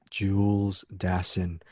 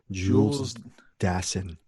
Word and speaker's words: Jules Dassin: Jules Dassin. I'm giving you the correct pronunciation. Jules Dassin.